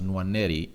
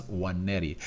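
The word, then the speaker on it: Nwaneri: W not w w meaning that the N is silent and it's not pronounced but by the way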